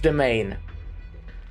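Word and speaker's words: demesne: This is pronounced domain. Domain like domain expansion.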